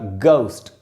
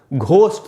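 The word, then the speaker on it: ghost: तो दोस्तों इसका करेक्ट प्रोनाउंसिएशन होगा गोस्ट। गोस्ट भी नहीं बोलना चाहिए और घ तो बिल्कुल नहीं होगा, घोस्ट तो एकदम ही गलत है बोलना।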